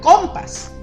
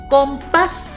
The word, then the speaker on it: compás: Si yo le pongo el acento en la O, diría compas, como mi compa, ¿verdad? Pero no, dice compás, porque el acento está en la A y esa es la que va a sonar más fuerte.